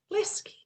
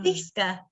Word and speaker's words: Liska: I know I'm going to say it wrong, but I'm going to say Lesky. No. Liska. Very Liska, close, Liska.